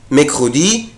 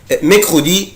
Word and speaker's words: mercredi: Mercredi, Darine colorie des radis. mercredi يوم الأربعاء. أقدر أنطق الكلمة دي يا ولاد لها نطقين اتنين.